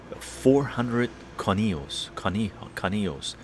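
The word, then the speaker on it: 400 Conejos: discount that's controllers and that's how you pronounce it the 400 conios that's the tequila very nice void Quebec national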